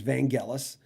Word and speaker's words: Vangelis: knew how to say it but it was vangelis but i'm on tape many times in the early days of probably this video or on the radio in these in the 80s i would say vangelis no one called once to correct me back